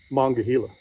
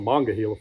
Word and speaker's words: Monongahela: spell it that way that's the way west Virginians locals around the Monongahela Forest pronounce mangahila they don't call it the manager it's the mangahila forest so that's the way